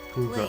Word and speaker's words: Pugra: Pugra. Please. That's how you pronounce it.